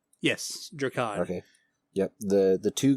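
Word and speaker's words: Drakan: We will be back to our normal schedule next episode where we will be doing I think it's pronounced Dracon. Yes, Dracon.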